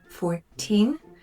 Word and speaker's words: fourteen: So 14, the stress is on the second syllable, whereas 40, the stress is on the first syllable.